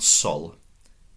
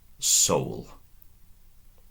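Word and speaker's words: sōl: Notice that little line above the O. That's a long vowel marker. A Roman wouldn't have written that. That's been invented just for us as learners to know that in this particular instance it's a little longer, perhaps twice the length of a O. It becomes O. So not sol, soul. Soul. Little longer, that's all.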